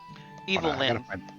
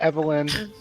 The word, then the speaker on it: Evil Lynn: Evil Lynn. No, it's not Evelyn. No, Or I'm gonna Evelyn.